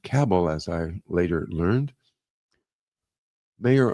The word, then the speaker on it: Cabell: Mayor Earl Cabell, that's Cabll L, and pronounced Cabell as I later learned. Mayor Earl Cabbell of Dallas, perhaps the le the first person